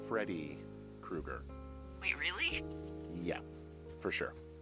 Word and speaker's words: Freddy Krueger: loose this is not a Teddy Krueger situation Krueger it's Freddy Krueger wait really yeah for